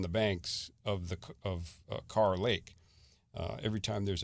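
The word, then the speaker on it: Kerr: Gaston is fed from car Lake and they pronounce it car but it's k r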